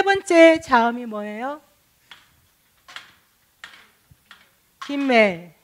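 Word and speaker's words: ג: 자, 다시 이 프린트를 보고 김멜이니까 음가가 뭐예요? 기역. 예, 기역 소리가 나죠.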